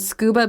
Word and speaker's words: scuba: on our definition, would scuba be just a regular acronym, or is it an initialism? Well, it's a regular acronym because I say scuba. Yeah, you say it like a word.